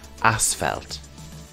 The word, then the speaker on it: asphalt: of rhodes is asphelt now i've highlighted the ph here in this word as we use the f pronunciation asphalt another type of material